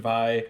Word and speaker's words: Vi: will know her name is VI it is pronounced by because it is short for violence is something